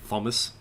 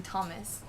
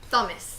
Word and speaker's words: Thomas: t-h-o-m yes right so you don't pronounce it h in thomas except for i'm going to start pronouncing the h and thomas oh here we go thomas game on okay here